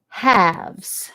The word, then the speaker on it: halves: Now, it also has an L that is silent. So we underline it twice.